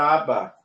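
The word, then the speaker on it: אבא: eu devo pronunciar vezes você não vai pronunciar duas vezes o Bet a pronúncia é uma só pronúncia única ele aparece duplicado porque dentro dele na forma quadrática tem um Dag razak então na transliteração ele vai aparecer duplicado simples tá entendidos entend ok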